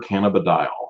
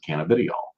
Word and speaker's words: cannabidiol: CBD is short for cannabidiol, or as you'll hear a lot of people pronounce it, cannabidiol.